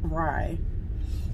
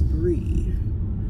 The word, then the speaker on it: Bry: she just called me Bry I understand my name is spelled b r y but it's pronounced as Brie who I never heard